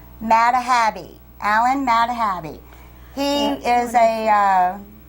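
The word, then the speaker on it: Madhabe: was uh painted by Alan I got to pronounce it right m a d h a b e mahabi Alan mahabi he is a uh uh where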